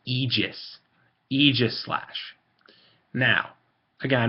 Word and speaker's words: Aegislash: um Eis slash now people will say AIS slash they are wrong you can pronounce it however the hell you are I don't care but I'm just telling you you're wrong it's egis egis slash now again I'm not